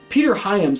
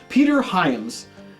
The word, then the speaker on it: Peter Hyams: was actually directed by Peter HAMP Peter Hyams I gotta get that name right cuz I actually did I already did I just I just dropped a the Outland review I think I said it right Peter Hyams but if